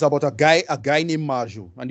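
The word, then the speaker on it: Marjoe: Marjo, right? Marjo. Okay. Yeah, it's about a guy named Marju, and the reason they call him Marju is because it's Mary and Joseph.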